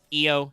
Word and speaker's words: Io: Actually, it is Io. Okay. Thank you for putting the pronunciation guide right next to this Wikipedia. It is Io. Okay, thanks. I've heard that go back and forth.